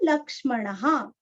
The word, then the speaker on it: लक्ष्मणः: सा फ, राम, राम, पातु, तुरस्व, पातु, स लक्ष्मणः, स लक्ष्मणः, विसर्ग का उच्चारण ह अथवा ह।